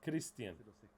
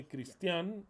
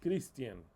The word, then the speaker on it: Christian: And you pronounce it as Christian. I'll write it to you, and if you mispronounce it, like some of you do, that put an accent mark in the A and they call me Christian, that's not my name, Christian.